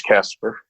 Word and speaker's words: Caspar: I say Casper, and you're going to think about a friendly ghost, and this person is not a friendly ghost. It's Casper. Okay, but it's spelled with an A, and that roughly translates